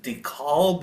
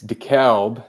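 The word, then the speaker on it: DeKalb: us what it's like being from is it deal is that how I say it deal Illinois uh uh it's decal the C Illinois that's how they pronounce it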